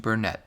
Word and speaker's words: Burnett: Sean Burnett says it's pronounced Burnett. It's just spelt Burnett.